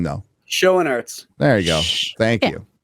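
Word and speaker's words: Schoenaerts: Schoenarts.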